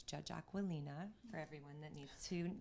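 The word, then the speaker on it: Aquilina: first I was scared - I was gonna mispronounce her name it's Judge Ocwen Lena for everyone that needs to know that and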